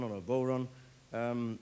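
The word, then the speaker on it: bodhrán: a uh called a bon or a bon or a bon um it's spelled uh b o d r h a n the D is silent like the p in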